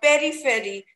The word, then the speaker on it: periphery: it should be periphery you can just rhyme it purry furry or it should be very fairy so the right pronunciation